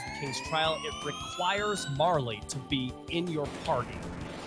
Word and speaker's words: Marle: Is it Marl or is it Marley? When I was a kid, I always said Marl. And then I heard somebody who spoke Japanese say Marley, and I went, oh, I must have been saying it wrong my entire life. And then it just stuck. And then I found out that, well, it's not exactly a consensus.